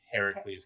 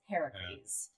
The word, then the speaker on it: Heracles: Now, I guess the correct pronunciation would be Heracles because his mother's Hera. If it's Greek, Greek is Heracles.